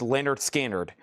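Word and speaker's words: Lynyrd Skynyrd: This is a brand new sealed copy of pronounced Leonard Skard.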